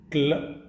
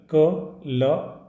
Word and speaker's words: claw: इसके बाद बोलते हैं नेक्स्ट, नेक्स्ट हमारा वर्ड है वो है क्ल, क, ल, ओ, क्लॉ, क्या है, क्लॉ, क्लॉ। इसका स्पेलिंग देख लें, CLAW, क्लॉ। क्लॉ मतलब होता है जो